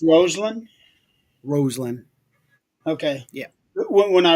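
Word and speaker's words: Rosslyn: pronounced Roseland. Roseland. Okay. Yeah. When I read it, it reads like it's Roslyn Yeah.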